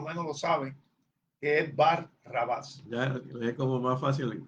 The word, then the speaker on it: Barrabás: ya por lo menos lo saben, que es Bar Rabás. Ya es como más fácil pronunciarlo corrido.